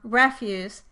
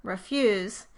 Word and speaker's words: refuse: For example, the first syllable in the noun, refuse, has the vowel, but when it is changed to a verb, refuse, the first vowel changes from the sound to the unstressed sound. Refuse versus refuse.